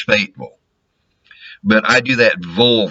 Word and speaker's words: Fayetteville: Yankees will call it Fayetteville. It's Fayetteville.